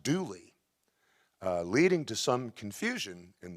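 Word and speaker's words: Dula: as a y duly is an old feature of mountain centuries-old appalachian speech dialect like the grand old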